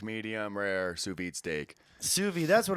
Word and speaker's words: sous vide: Sous vide.